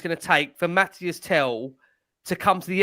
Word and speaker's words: Mathys: Mathys.